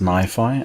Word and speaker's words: NiFi: As can be heard, it's pronounced NiFi, and the reason for that is based on the fact that it is a rename of the original solution, which was called Niagara Files.